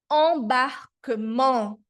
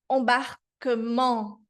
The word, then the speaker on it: embarquement: O som da nasal 1 é en, embarquement, embarquement, d'accord?